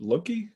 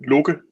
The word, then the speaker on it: Loke: So the Danish pronunciation would be Loke, but that's Loki certainly also works.